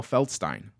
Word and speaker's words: Feldstein: Because Stein, mug, Feldstein. It's how people like pronounce it right.